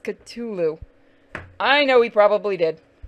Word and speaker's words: Cthulhu: So he's actually sitting next to my statue of Cthulhu, that's resin, and my mug that somebody got me custom made of Cthulhu.